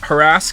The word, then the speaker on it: harass: some mothers do Avon pronounced harass with the emphasis on the second syllable. Now, according to the British Library, evidence suggests that for people under the age of 35 it is becoming the favored pronunciation.